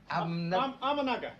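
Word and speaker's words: Ahmednagar: Spike when you were born at a place I can't pronounce. Amaga.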